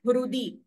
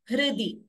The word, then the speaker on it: हृदि: So this R should be pronounced as the swara itself, not like Ri or Ru. It is not Hrudi.